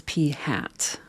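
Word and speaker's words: p̂: the statistic we're using to estimate that is p hat okay and remember that's pronounced P hat statisticians like to put accessories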